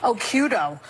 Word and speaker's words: Occhiuto: I had mine because my original Italian-American name was too hard to pronounce. Occhiuto.